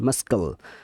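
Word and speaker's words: muscle: মাস্কাল, এখানে সব C silent letter. এই যে যতগুলো ওয়ার্ড সব সি সাইলেন্ট লেটার। মাস্কাল মানে পেশি, সিন মানে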